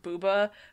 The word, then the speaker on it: Booba: But the first one, I'm sure it's pronounced Booba, but I want to say Bubba because I think that's so much funnier.